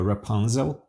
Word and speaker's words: Rapunzel: Hoje você vai ouvir a história de Rapunzel, em inglês a gente pronuncia Rapunzel.